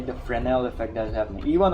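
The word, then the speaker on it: Fresnel: All right, that is the frenel. Even over here the same thing is happening. Frenel fel the s is silent.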